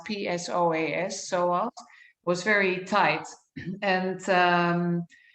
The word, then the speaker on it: psoas: And she noticed that my psoas muscle, that's spelled PSOAS, psoas, was very tight.